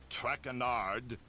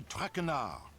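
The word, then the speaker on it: Traquard: As for my name, not Trackard. It is Trakar.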